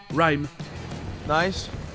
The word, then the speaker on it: rhyme: les mots commençant par "rh", le "h" sera toujours muet comme dans le mot "rhyme".